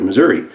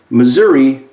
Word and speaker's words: Missouri: grown up there so Missouri may be pronounced Missouri with an extension of an e on the end and some folks may say Missouri but if you pay close attention to their speeches they actually say Missouri and Missouri both within